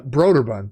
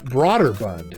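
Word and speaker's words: Brøderbund: that didn't work that i used to say um uh broderbund b-r-o just like broder you know um and then i listened to uh someone else's podcast and they said um uh broader bund and i was like i've been saying it wrong this whole time like i've been saying broderbund uh you know and it's broader but all right here we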